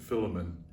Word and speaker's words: Philemon: paul's last letter to philemon or some people pronounce it filament and i think that's tomato tomato actually but uh it's an